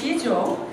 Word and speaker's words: Sijo: So it's pronounced Sijo, and it is a traditional Korean poetic form.